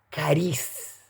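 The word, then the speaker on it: χάρις: trans liberando de la palabra griega cariz se escribe charisse cariz qué significa dong que significa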